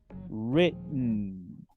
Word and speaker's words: written: Written. Fíjense que tampoco se pronuncia la E, por lo menos en inglés americano.